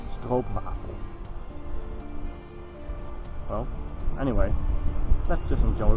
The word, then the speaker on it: stroopwafel: Many people love them, and when I hear people from other countries trying to pronounce it, they say stroopwafel. Well, it's actually stroopwafel.